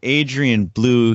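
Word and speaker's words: Adrian Belew: King Crimson or whomever, Adrian Bewley, you see these guys know each other. You know that Adrian Blue here in the United States is pronounced blue, as in the color blue.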